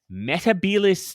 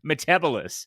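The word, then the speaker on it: Metebelis: from a planet called metabolis three a but in the series in the episode he pronounces it metabolous and let me just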